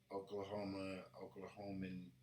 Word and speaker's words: Oklahoman: We do have a Oklahoman? Oklahoman?